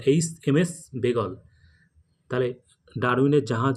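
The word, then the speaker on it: Beagle: এ জি সি এল ই বেগল উত্তরটা কিন্তু উচ্চারণটা কিন্তু হবে বেগল এইচ এমএস বেগল তাহলে ডারউইনের জাহাজ যে করে ভ্রমণ করার সেই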